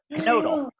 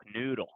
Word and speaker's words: Knödel: When it has those 2 dots over it, you pronounce it differently. Like if it didn't have the 2 dots, I would say knödel. But because it has the 2 dots, I go knödel, noodle, noodle.